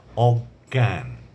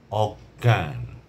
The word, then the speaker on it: অজ্ঞান: যেমন বিজ্ঞান বিজ্ঞান বিজ্ঞান বিজ্ঞপ্তি গ এবং গ দুটির উচ্চারণ আসছে তারপরে অজ্ঞান অজ্ঞান অবজ্ঞা অবজ্ঞা অজ্ঞ প্রথম গ এর মধ্যে চন্দ্রবিন্দু